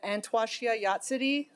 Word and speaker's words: Antwashia Yatsidi: And Antwashia Yatsidi, that's the correct pronunciation of her name.